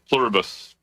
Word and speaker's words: Pluribus: You're saying Plurabus? Okay. On the back of a US coin, it says E Plurbus Unum. So, it's spelled the same way. Okay. Pluribus.